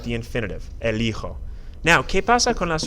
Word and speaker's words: elijo: This is pronounced, if you stop to take a second and look at it, it's pronounced eligo, but you want elijo.